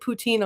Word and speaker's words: poutine: have to pronounce that Poutine.